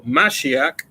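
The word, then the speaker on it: מָשִׁיחַ: things through Christ or mashiach that's how you say it in Hebrew with strengthen it me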